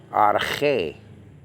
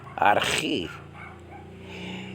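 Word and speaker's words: ἀρχή: So arche. In modern Greek, again, it will be archi.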